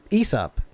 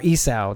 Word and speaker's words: Esau: during the time where Issa his brother or Esau depending on how you pronounce it but his brother